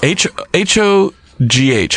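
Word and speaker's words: Hogh: Richard H-O-G-H Huff. It's like Charlie Huff. Charlie. H-O-G-H There's someone with that last name listening, pounding the steering wheel. Screaming. mad. Richard Dick Haw. It's Ho. Dick Pronounce Hal. Dick Ho. All right.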